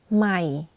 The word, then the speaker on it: ใหม่: but for low tone, you add a slight falling low pitch. I'll give you an example so you can practice. ใหม่ You can hear that my voice goes in a lower pitch when pronouncing the word.